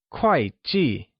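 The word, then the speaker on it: 会计: and G are both pronounced with a falling tone also known as the fourth tone let's hear you say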